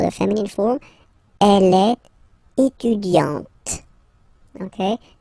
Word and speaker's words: étudiante: Okay, but then for the feminine form, elle est étudiante. Okay, t. Okay, you don't really insist on the E, but you insist quite much on the T. Elle est étudiante. Il est assistant.